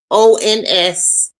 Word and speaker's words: cabochon: Cap, CABOCHONS. That's pronounced cabochon.